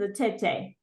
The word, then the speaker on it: Atete: So I actually looked up how to pronounce her name, and it is a tete.